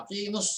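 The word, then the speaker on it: أقيموا: Jadi wa aqimus sholata. Kalau dia dibaca sendiri, dia harus panjang ya. Aqimu. Tapi karena dia mau disambungkan, mau diwasalkan dengan as-sholata, jadi bacanya tidak bisa panjang ya.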